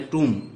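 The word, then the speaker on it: tomb: जो सिंबल आया ना, इसकी उच्चारण जो है वो है टूम, तो ट के लिए ये लग गया, बड़ी की मात्रा के लिए ये लग गया टूम, ये बी साइलेंट रहेगा, पढ़ा नहीं जाएगा, एम के बाद भी होता है वो साइलेंट रहता है।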